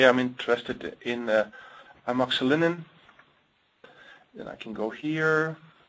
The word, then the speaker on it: amoxicillin: You see amoxicillin. How do you pronounce this? Amoxicillin?